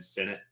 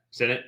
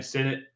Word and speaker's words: Sinnott: Mike Sanders-Trill and then Ben Sinnott or Ben Sinnott. I Senate. forgot. Senate, perfect. It is not pronounced that way.